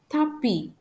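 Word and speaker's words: tapis: for example for s tapi it means carpet tapi you can hear that we don't pronounce that I don't pronounce the letter s it is a silent letter for H Abit which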